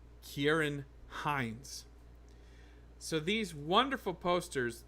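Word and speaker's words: Ciarán: I've Been Told that you pronounce Kieran Hines with a hard C Kieran just like you pronounce Kiran the ship right with a hard sea it's not San it's not San it's Kiran and and you and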